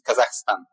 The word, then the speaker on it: Kazakhstan: Yeah, so that's the right pronunciation is Kazakhstan, to make it everything crystal clear.